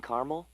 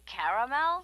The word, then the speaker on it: caramel: I'd like it in caramel. Oh, the caramel? Yeah, that's what I said, Tina. Actually, you said caramel when it's pronounced caramel.